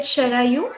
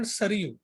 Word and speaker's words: Sharayu: In Marathi, we call it Sharayu, and Sharayu. but in some of them call me Sharayu. Sharayu. But in Marathi, it pronounced at Sharayu. It is river. Okay. In North Yes. India, it's called Saryu.